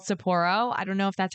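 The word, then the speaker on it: Sapporo: And one of my favorites is called Saporro.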